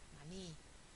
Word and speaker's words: maní: Maní, palabra aguda, termina en vocal, le pongo tilde.